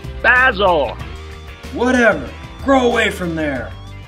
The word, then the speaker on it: Basil: I said, hold it right there, Basil. It's pronounced Basil.